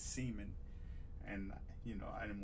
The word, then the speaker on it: Semien: For some reason, that the one I just showed, Marcus Semien, he used to tell me to pronounce it Marcus Semien.